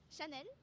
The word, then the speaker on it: Chanel: Could you show me how to pronounce Chanel and Louis Vuitton? Chanel, Louis Vuitton.